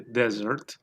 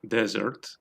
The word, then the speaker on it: dessert: Podemos acentuar en la primera sílaba o en la última, desert o dessert.